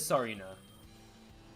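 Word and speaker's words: Tsareena: Or Tsarina? Sarina? Is it Sarina? I don't know how to pronounce it. T is, so it is Sarina.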